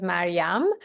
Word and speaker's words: Maryam: I can't see you all, but my name is Mariam. That's how it's pronounced in Farsi, which was my first native language.